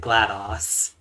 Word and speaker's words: GLaDOS: well, I pronounce it GLaDOS because Yeah. disk operating system, DOS.